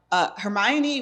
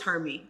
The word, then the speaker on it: Hermione: Hermione was Hermione. Hermione. That's how Hermione. we said it. Yeah. We said it at home. Yeah. She more or less she was Hermie.